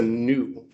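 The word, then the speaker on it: nu: It's a new moo new. And it makes an n sound.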